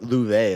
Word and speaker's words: Laufey: Or Louve, that's how you pronounce her name, right? Because she's Icelandic.